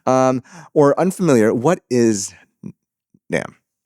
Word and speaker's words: NAMM: Nam. um over in Anaheim, California. Now, Nam Nam N is a huge event, but to those who are not baref that's California's mark um or unfamiliar, what is NAM?